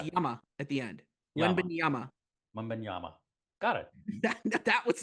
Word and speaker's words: Wembanyama: Wembanyama. No, it's Ama at the end. Wembanyama.